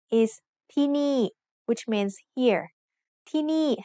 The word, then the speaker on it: ที่นี่: ที่นี่ has 2 syllables, and both syllables have low-class initial consonants. We use ไม้เอก with both syllables to make each one have a falling tone.